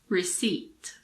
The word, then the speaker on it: receipt: with silent P's for example coup cbed raspberry receipt and now the letter r in standard British